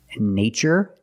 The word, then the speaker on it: nature: CH these two words nature and natural we see the spelling pattern t r e in this spelling pattern T is pronounced with the CH sound like chicken so we see the